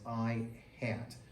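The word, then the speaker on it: î: We pronounce this as I hat.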